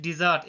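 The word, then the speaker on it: dessert: Guys point it's correct pronunciation is डिजर्ट. एक डेजर्ट होता है DESERT, उसका मतलब रेगिस्तान होता है.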